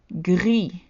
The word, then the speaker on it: gris: Gris, gris. The S is silent in the masculine form.